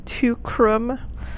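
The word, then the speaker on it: Teucrum: And then tucrorum is a little bit of a syncopated form. It should be tucrorum. This is tucrum. So we're missing a syllable. It's just been sort of smashed together for meter.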